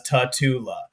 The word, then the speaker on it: Tatula: a little little different pronunciations here and there tatula tatula um but yes we we pronounce it as tatula um and that's like I said that's the